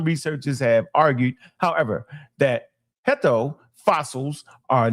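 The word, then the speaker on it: Herto: Let's say Herdo. Herdo. That's how you say it right.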